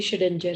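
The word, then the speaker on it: Schrödinger: Pronunciation इसकी शेडेंजर है, शेडेंजर wave equation.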